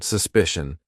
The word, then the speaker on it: suspicion: And you can see here, these are CIAN, but this one at the end is CION, but it's still the same. Shun, politician, suspicion.